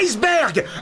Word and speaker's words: iceberg: non tu préfères dire iceberg ou eberg toi non normalement la prononciation c'est eberg mais personne ditberg en